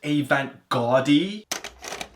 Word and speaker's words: avant-garde: Actually, it's pronounced avant-garde.